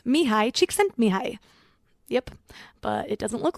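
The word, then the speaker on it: Mihaly Csikszentmihalyi: hard to pronounce and the spelling is completely different than the pronunciation. It's Mihai Csikszentmihalyi.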